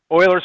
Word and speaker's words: Euler: Euler's formula, some people pronounce it Euler's formula, but right, have you heard Euler before?